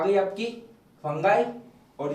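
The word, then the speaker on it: fungi: तो ये फंगाई है, फंगी नहीं है ना। तो पर बोलने के लिए चलता है, बट ओरिजिनली इसका जो प्रोनाउंसिएशन है वो है फंगाई ना।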